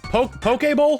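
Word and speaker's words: Poké Ball: How do you pronounce it? It's Pokeball? Do you pronounce the E as a long A?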